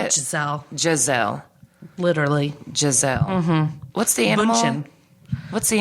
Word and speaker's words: Giselle: Giselle. Literally. Giselle. Mm-hmm. What's the animal? Bunchin. What's the animal? Bunchin. You just like saying bunchin. Gazelle. Gazelle. Animal. Giselle.